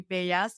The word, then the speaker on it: Bellas: l l as so most people call me Bas because that's the way they say it in Spanish but my husband is actually Greek and um even though it's spelled with two L's it's really pronounced with one L so anyway but I'm